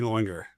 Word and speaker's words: Lauinger: Ladies and gentlemen, PC Loinger. Did I pronounce that right?